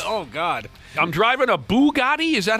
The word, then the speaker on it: Bugatti: I'm driving a Bugatti? Is that how you say it? Bugatti, yeah.